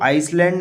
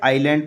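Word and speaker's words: island: डॉल्फिंस back ठीक है इसको आइसलैंड ना पढ़ के आईलैंड पढ़ते हैं ठीक है आईलैंड ओके यहां एस साइलेंट रहता है दे सून रिच्ड द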